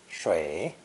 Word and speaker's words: 水: Water is pronounced third tone, shui, shui.